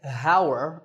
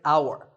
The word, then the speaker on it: hour: at the start but that H is silent we don't say Hower we say our the first sound is